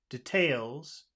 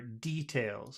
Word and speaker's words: details: because some people say details and some people say details so it could the accent could be either way I prefer I prefer details I prefer it on the first syllable yeah we'll do that